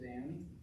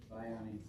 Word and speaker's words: Bione: Krista Danny. Did I pronounce that right? Ione. Bione, okay.